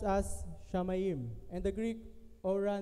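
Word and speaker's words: שמים: is commonly translated from the Hebrew it is pronounced as shamayim and the grip or a knows the meaning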